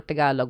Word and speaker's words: Tagalog: Um, I was doing the thing that English speakers always do, which is putting an emphasis on the first syllable, which is also a